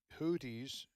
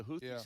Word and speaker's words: Houthi: And the Houthis, have been also attacking U.S.